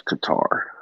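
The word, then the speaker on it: Qatar: Cuz it is spelled Q A T A R. It is Qar. I want to I want to pronounce it cutter so bad. Well, read a book or something because that's not how you do it.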